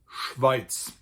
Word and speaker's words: Schweiz: Switzerland in German is actually called Schweiz.